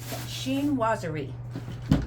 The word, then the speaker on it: Chinoiserie: the in the shinaz shin wazerie. Okay. Shinwazerie. And it doesn't the way you pronounce is not the way it looks when it's spelled.